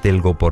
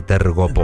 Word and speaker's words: telgopor: Hay gente que es tan parda que ni siquiera sabe decir telgopor, dice tergopor. ¿Tergopor?